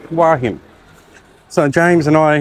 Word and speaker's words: Hua Hin: Not Huahin, as I pronounced it earlier, Wahin.